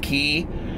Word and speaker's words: Quay: pairs there's uh they look like Quay q u a y but I think they're pronounced key that Alex wears those